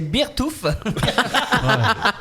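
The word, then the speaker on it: Beartooth: Alors c'est, je sais, je vais essayer de faire un effort de prononciation. C'est Beertooth.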